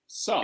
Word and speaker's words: Sarr: So, there's a question you asked, Peter, you asked earlier why Ishmael, how do you pronounce his surname? Sarr.